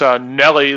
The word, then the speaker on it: Nuelle: Nuelle. Actually, it's Nelly, like the rapper, but Brilliant.